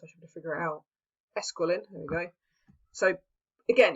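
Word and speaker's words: Esquiline: to the Sorry, I can't hear how to pronounce that word, and I'm learning Latin, so I should figure it out. Esquilin, there we go.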